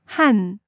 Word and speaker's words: 한: But the thing is, numbers 1 through 4 change slightly in pronunciation. Let's go over 1 o'clock. 1시, 1 hour. She is hour. So 1 hour. What's 1? 하나, But it changes to, 한, and then we add 시, 1 hour, 1 o'clock.